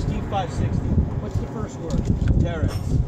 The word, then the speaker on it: Terex: The Terex T560. What's the first word? Terex. Spell it.